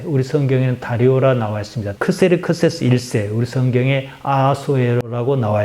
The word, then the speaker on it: 크세르크세스: 크세르크세스는 영어식 발음입니다. 원래 페르시아 말로는 크샤야르샤입니다. 히브리 말로 넘어가면서 아우슈베롯입니다. 우리말로 순화해서 아하수에로라 그럽니다.